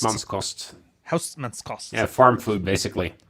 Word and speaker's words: Hausmannskost: So the Thai food for cutting and the Western German, how do you pronounce that? Hausmannkost? Hausmannskost.